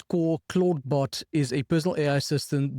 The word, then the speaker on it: Clawdbot: And the name Claude is spelled with a W. It's like a lobster, not related to Claude Code necessarily, even though they work very well together. And the names sound very similar.